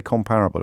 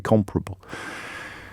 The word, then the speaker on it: comparable: the words i mispronounced comparable not comparable i always say comparable apparently it's supposed to be comparable backgrounds comparable to mine